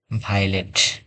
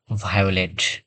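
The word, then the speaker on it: violet: ভিআইও এল ই টি, এখানে শব্দটা আমরা উচ্চারণ করি ভাইলেট, ভাইলেট, কিন্তু এটি রুলস অনুযায়ী উচ্চারণ হবে ভায়োলেট, ভায়ো, আয়ো, কারণ এখানে আই এবং ও দুইটি ভাওয়েল সাউন্ড পাশাপাশি আছে।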